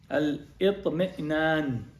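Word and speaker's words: الاطمئنان: That's called al-itmi'nan. Sorry, how do you say that in Arabic? Al-itmi'nan. Alif, the lam, hamza, ta, mim, then hamza, noon, alif, noon.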